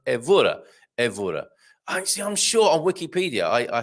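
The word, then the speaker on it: Évora: And yes, Carl, second to last syllable stressed, unless an accent mark. So, evora.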